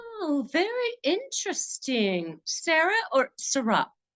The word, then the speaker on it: Sara: interesting Sarah or sarra well it is Sarah but often times people pronounce my name differently and I come to like how they pronounce it so I am fine if you want to call me SAR gotta Sarah I do